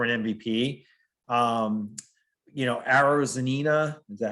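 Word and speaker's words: Arozarena: a contention for an mvp um you know arrows zanina is that how you say his name yeah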